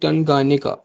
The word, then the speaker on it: Tanganyika: और यहाँ पे एक लेक है, लेक टनगानिका, ठीक है, लेक टनगानिका, स्पेलिंग इसके आप नोट कर लें, TANGANYIKA, टनगानिका।